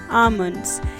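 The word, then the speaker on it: almonds: L silent रहता है, इसे आप बोलेंगे आमंड्स। नेक्स्ट है पिस्ता।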